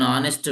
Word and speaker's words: honest: I met an honest man. I met an honest man. So here also honest it's not honest it's honest. H is silent in this case also h is silent.